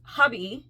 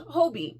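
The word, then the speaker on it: Hobbii: I just learned that it's pronounced hubby cuz it's German and it's not pronounced Hobie she was like yeah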